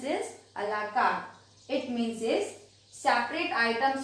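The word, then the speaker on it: à la carte: You will pronounce this a la carte.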